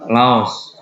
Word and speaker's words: Laos: kata nguyen Ya udah Laos ya Los dibaca aja agamanya juga Buddha Laos